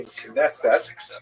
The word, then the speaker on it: Knesset: The name Knesset in modern Israeli pronunciation is, of course, the deliberating body of